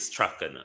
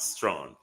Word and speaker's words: Strachan: But it is Strachan, not strong.